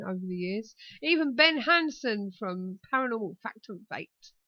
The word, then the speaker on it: Hansen: Because everybody in the chat room didn't say Hansen. They said handsome.